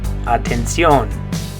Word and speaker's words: atención: In Spanish you're going to say atención. Atención. Good. In English it's attention. In Spanish you say, good job, atención.